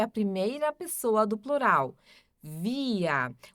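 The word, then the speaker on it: wir: Aí nós depois temos o via, que é a primeira pessoa do plural. Via. O W também sempre tem som de V aqui. O R no final som de A.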